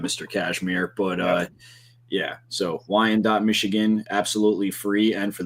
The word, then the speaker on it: Wyandotte: I'm not even going to pretend to know how to pronounce the town that we're in, but just know that it is Wyandotte. Wyandotte.